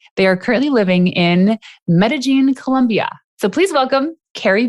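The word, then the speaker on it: Medellín: Yeah, and so I learned that Medellin is spelled Medellin because the double L is the J, right?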